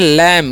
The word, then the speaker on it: lamb: तो इसे हम लोग पढ़ते हैं लैम। क्या पढ़ते हैं, लैम पढ़ते हैं। बी साइलेंट होता है, यह ध्यान रखना है।